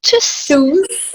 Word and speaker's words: Tschüss: Tschüss.